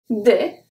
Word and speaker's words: des: Des. Des. So here the same thing. D-E-S. The E-S make the sound est.